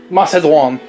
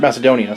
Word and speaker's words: Macedoine: Macedoine. I did pronounce it wrong. Woo! I tried. I mean, they also call it in the dub. They call it a fruit Macedonia, so it's either or.